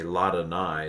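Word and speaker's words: לַאדֹנָי: So you would say Ladonai is the way they would pronounce it.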